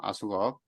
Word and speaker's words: AskUp: 아까 설명드렸을 때 아숙업이라고 발음한다 그랬죠. 아숙업.